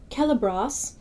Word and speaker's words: Celebros: It is always pronounced in the middle of words like Celebros or Manygroth. And the reason why I'm saying the O like that is because in the